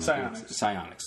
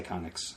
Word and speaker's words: Psyonix: Psyonix, that's it. I was going to say Psychonics or something like that.